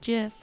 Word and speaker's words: GIF: It's because the person who made it that it's pronounced GIF, like the peanut butter.